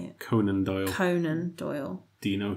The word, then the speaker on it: Conan Doyle: conand Doyle does that how you say it Conan Doyle Conan Doyle do you know who he is